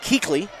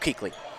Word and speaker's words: Keekley: So I apologize, I've been pronouncing that last name wrong, but Keekley, so like Luke Keekley.